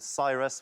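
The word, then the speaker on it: Psyrus: at I was in a band called Cyrus with a silent P at the beginning of it.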